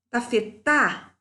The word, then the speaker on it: tafetá: Tafetá, tafetá. Sílaba tônica é a última, é oxítona.